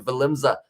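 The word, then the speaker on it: Willemse: was the man damian valenza as well the w is pronounced uh like the english v uh philip uh finn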